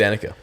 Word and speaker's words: Danika: So, Dena, sorry for pronouncing your your name wrong in the first place, but I think it's Danica. Is it Danica as well? Hell, Danica.